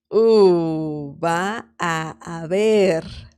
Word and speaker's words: va a haber: I mean, I'm pronouncing it quite slow, but regular speed would be va a haber. Va a haber. So it's a very long a sound. Va a haber. Okay. It sounds like one word, but it's actually three.